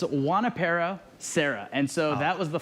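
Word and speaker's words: Junípero Serra: pretty close actually that was pretty close it's juanipero sarah and so that was the father uh father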